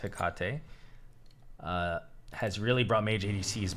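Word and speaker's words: Hecate: the ring of hikate and yes it's pronounced hikate has really brought mage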